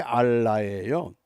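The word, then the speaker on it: אָלָה: 살인과 투절과 가는 뿐이요 여기 저주라고 하는 것은 히브리 단어의 알라예요 알라신 그러죠 그 발음이 같아요 알라 그런데이 알라가 맹세한다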